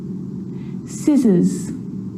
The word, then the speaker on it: scissors: few problems because it's often silent after the letter s like in these very common examples they're quite tricky muscle muscle scissors fascinate scene scenario muscle scissors fascinate scene scenario